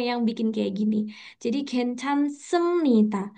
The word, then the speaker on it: 괜찮습니다: Jadi, 괜찮습니다. Ini ada B, Sam kok dibacanya M gitu. Nah, nanti ini ada 자, aturan lagi nih teman-teman. Kalau B ketemu N, B-nya jadi M gitu.